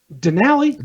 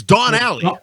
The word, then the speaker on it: Donnelly: wrong Denali Donnelly Denali Donnelly Denali is a truck it's Dawn alley Donnelly Dawn alley Dawn alley